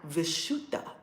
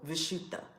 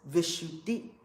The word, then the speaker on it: Vishuddha: the Indian part of the world okay now vishuddha who you're an Aquarius love it is spelled B uh this is the Rasheeda this symbol vishuddha this is the throat chakra also known as visshuddhi how do you spell it v i SH